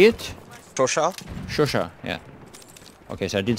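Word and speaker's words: Chauchat: Shosha, yeah.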